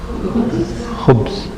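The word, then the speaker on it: خبز: Khu, not ju. Khu. Yes. Khubs.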